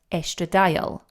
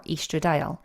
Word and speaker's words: estradiol: And the main kind of queen bee within the estrogen that we lose is called estradiol, or estradiol, depending on how you want to pronounce it. It's like potato.